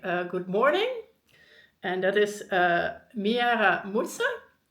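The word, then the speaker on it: Mwaramutse: And I always want to say Maria Mutsa because I changed out the letters and I googled it and it turns out it's spelled completely differently. But Miara Mutsa is what I pronounced and most people were able to recognize it as a proper greeting.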